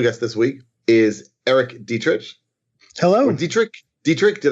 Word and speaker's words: Dietrich: this week is Erik Dietrich hello and dietrich dietrich did I now that I've introduced you did I get that wrong as a Dietrich it is Dietrich okay very good and